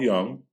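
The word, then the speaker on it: Jung: you're doing that because you know how to say the name the j is a lie and mythographer joseph campbell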